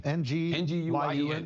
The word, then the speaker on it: Nguyen: How you pronounce it, Chris? It's a Vietnamese name. Nguyen. Nguyen is the closest, yeah.